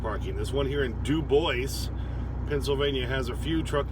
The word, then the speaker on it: Dubois: that bothers me um d-u-b-o-i-s that's dubois okay it's french but i shouldn't be complaining in wyoming we have a dubois d-u-b-o-i-s which also should be pronounced dubois but wyoming were hicks